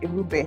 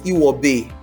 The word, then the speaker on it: Irube: The happy employee coach, Irube. Did I get that pronunciation right? It's fine. It's usually, I was told that it is Iwobe, that the R is actually pronounced as W.